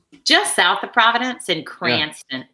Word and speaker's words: Cranston: Just south of Providence in Cranston. Yeah. Cranston is how you say it. I'm sure that's how all the Rhode Islanders say it. I had to practice. Cranston. It's Cranston. They did. They said Cranston.